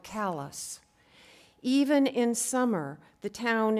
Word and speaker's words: Calais: miles from Calais main callus is pronounced hard like Calais even in summer the